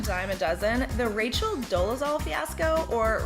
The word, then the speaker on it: Dolezal: In a world where outrage-inducing news stories are pretty much a dime a dozen, the Rachel Dolezal fiasco, or Rachel Dolezal as she pronounces it, still stands out as one of the most bizarre cons of our time.